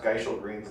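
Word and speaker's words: Gysahl Greens: Well, you know, at the very end of that video, they say also it's pronounced Geishel Greens now.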